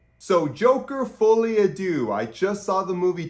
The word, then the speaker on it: Folie à Deux: and call it by its actual name Joker fully ad do okay that's how you pronounce it you're welcome not that I'm a good linguist at all I'm just I'm just saying so Joker fully Ado I just saw the movie two days ago